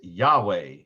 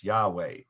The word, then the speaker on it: Yahweh: the answer is that some language scholars believe that the vav was pronounced originally as a w well even today it's